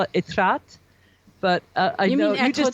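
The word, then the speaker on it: Étretat: I'm going to make a mistake of my pronunciation, but I call it Etretat. But I know you just did a podcast. Etretat.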